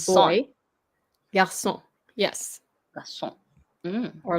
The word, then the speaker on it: garçon: CD is the accent, and it makes the sound pronounced as an S instead of the, yeah.